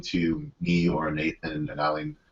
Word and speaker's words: Aline: me or Nathan and Aline. Am I pronouncing your name right, Aline? Aline, yes, you're saying it very right.